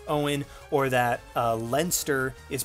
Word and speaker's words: Eoin: really having trouble pronouncing the way that Owen pronounced his name like even then call with jolt I've been calling him Aeon I think for the longest time because I